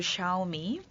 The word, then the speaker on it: Xiaomi: Okay, just to correct the Xiaomi the pronunciation, it's actually called Xiaomi.